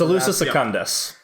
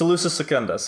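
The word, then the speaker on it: Salusa Secundus: was solution services centers elusive segundus I said it right it's elusive secundus Wow okay so the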